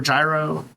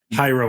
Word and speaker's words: Jairo: Okay, the next one, you already told me how to pronounce this name and I forgot, but it's maybe Gyro. Hyro, I believe is what. Hyro, there you go.